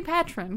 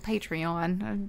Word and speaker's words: Patreon: say it like that I always say patrin because I think it's funny it's patronizing Oh patreon took the joy out